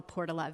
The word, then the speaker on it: Portola: It's actually called the Portola. Very few people believe me when I pronounce the name of my neighborhood.